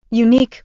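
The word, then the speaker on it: UneeQ: were unique tell me more about you unique unique pronounced unique is a company specializing in creating digital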